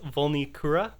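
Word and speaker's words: Vulnicura: i looked it up the pronunciation for that album is volnikura yes i looked it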